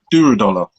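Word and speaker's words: Durodola: Am I pronouncing his name right? Duradola.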